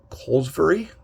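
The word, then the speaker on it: Kolozsvary: Mark, I believe his last name is pronounced Colesbury.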